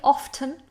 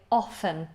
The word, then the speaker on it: often: You can pronounce the T often, that's perfectly acceptable, but perhaps a little old-fashioned. So most natives now say often without the T. They still spell it with the T, but pronounce it without.